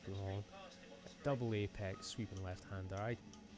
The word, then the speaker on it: Pouhon: Now, forgive the pronunciation of this. I know it's turn 10. I think it's pronounced Pouhon.